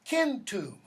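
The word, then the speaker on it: centum: 13, doesn't matter which order you put these in, Satem, S-A-T-E-M, and Kentum, K-E-N, C-E-N-T-U-M. Notice, by the way, that pronunciation. Hard C, right? There's a basketball team in Boston.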